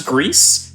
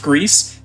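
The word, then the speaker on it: Gris: so uh this is greece uh g-r-i-s it is not pronounced gree i know that's a big issue right off the bat pronounced greece it is spanish for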